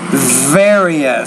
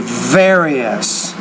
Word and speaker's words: various: merchandise in various countries you want to say various so you're not pronouncing that V with enough vibration very various I'd like to play